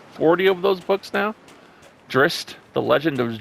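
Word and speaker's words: Drizzt: close to maybe 40 of those books now drist the legend of drist drist is that how you say it d-r-i-z-z-t uh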